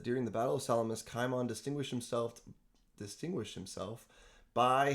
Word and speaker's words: Kimon: So, uh you spell this name with a kappa. So we pronounce it Kimon.